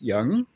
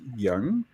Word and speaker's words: Yang: yeah yeah can say Yang you know apparently uh the spelling you know it's pronounced young that's okay yeah it's y a n g and apparently the proper pronunciation is Young okay okay so got